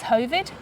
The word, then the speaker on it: Hovid: It's Hovid. Rhymes with COVID.